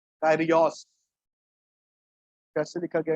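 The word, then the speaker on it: κύριος: बताने के लिए, वो यूज किया गया है कायरियोस। कैसे लिखा गया है मैंने आपको दिखाया, क्या है, कायरियोस। ठीक है, इसकी इंग्लिश में स्पेलिंग भी नोट कर जाते तो लिख लो, K/RIOS। KYRIOS, कायरियोस।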